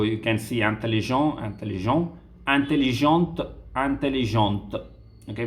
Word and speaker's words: intelligente: Okay, so you can see intelligent, intelligent, intelligente, intelligente. Okay, we'll be pronouncing till the t.